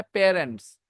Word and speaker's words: parents: बोलना हमारी आदत है, लेकिन सही प्रोनाउंसिएशन है पेरेंट्स. मैं बताता हूं. PAIR को कैसे पढ़ते हो? PAIR. पैर पढ़ते हो? उसी में एंड्स लगा के बोल के देखो तो. पैर पहले बोलो, पेरेंट्स. यही है करेक्ट प्रोनाउंसिएशन.